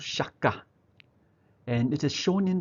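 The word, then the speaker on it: 釈迦: directed the movie called Shaka, and it is shown in the USA 2 years later in 1963 as Buddha. Shaka, of course, is the Japanese pronunciation of Sakya, right?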